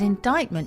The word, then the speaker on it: indictment: help you remember that indictment has a t even though it's silence isn't lady lex lady